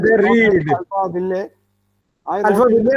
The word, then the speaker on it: Alphaville: Alpha will, and Not they read Alpha Will. I Alpha wrote it will, as Alpha Alpha will, Will or in whatever. 2005. Now we understand that LLE should not be pronounced.